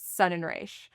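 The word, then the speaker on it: Sonreich: Um, s o n r e i c is sun and ra. People will correct you, but I am not German.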